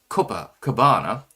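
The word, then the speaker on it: Copacabana: Go to Copa Cabana Peach, pronounced Copa Cabana.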